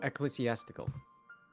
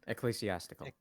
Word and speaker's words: ecclesiastical: ecclesiastical is that it it's a hard C and then s's Eclipse theatrical goodness cool I hate the English language I think of it like I think of it like pastoral essentially as cholestiastical hard C then soft as so it's a ex